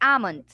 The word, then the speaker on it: almond: Some people pronounce with the L, but actually, you know what? The L right here is what is silent. So what most of the people don't know, it's almond.